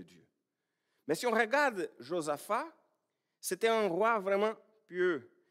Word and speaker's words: Josaphat: On prononce ce là à la fin en français, Josaphat. Ah, c'est bien comme on prononce en portugais.